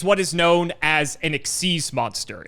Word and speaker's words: XYZ: is known as an exes monster it's spelled XYZ but it's pronounced exes don't ask it's the